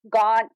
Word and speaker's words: Gaunt: about that first so gaun is actually just it's less exciting than it sounds it's just how the English pronounced uh gent back in the day gent and Belgium so